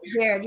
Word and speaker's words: Verde: The population of Cape, is it pronounced Verde? Verde, yeah.